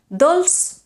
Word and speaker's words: dolç: Dolç is pronounced with an S, whereas dolç i salat is pronounced with a Z.